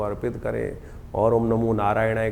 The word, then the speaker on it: नारायणाय: बिल्कुल सही होना चाहिए कई बार लोग मंत्र का जप करते करते थोड़ी सी गलती कर देते हैं नारायणाय नारायणाय नारायण नारायणाय नारायण नाराय नहीं है नारायणाय ओम नमो नारायणाय इस